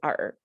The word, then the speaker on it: 尔: you actually that's the chinese classical chinese you pronounced as art in contemporary chinese we